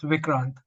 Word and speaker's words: Vikrant: pronounce your name properly the first pronunciation was Prett spot on it's vikrant vikrant okay cool thanks perfect